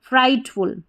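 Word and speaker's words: frightful: जो साइलेंट रहेगा वो पढ़ा ही नहीं जाएगा। ठीक है? इनके कुछ रूल्स रहते हैं। आपको याद रखने पड़ते हैं। तो जी एच टी इसको ट पढ़ देंगे क्योंकि टी का उच्चारण हो गया। फ्राइट और एफ यू एल हो गया फुल।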